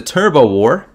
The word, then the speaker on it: Turbot War: The Turbo War was a fishing dispute between Canada and what other country? That's almost certainly going to end up being pronounced turbot. I get the feeling.